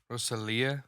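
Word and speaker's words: Rosalía: that's not where the emphasis is. though. Rosalia. Yeah, there you go. That's fine. Where's she from? Cuban? No, Colombia? Colombia, I think. Yeah. Oh man. Yeah, it's Rosalia. No, it's, Rosalia. but so many of them are sick. You know it's Rosalia, or are you Dude. just saying that? It is. That's where the emphasis is on the I.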